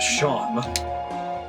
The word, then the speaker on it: Seam: The name Seam, pronounced Sham.